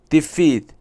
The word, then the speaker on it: defeat: Defeat, the stress is on F, refers to the state of being beaten or overcome, whether in battle, game, or argument.